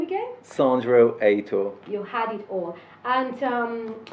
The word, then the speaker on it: Sandro Heitor: Can I pronounce it? Or eight? Perfect. So, thank you. Say your name again. Sandro Heitor.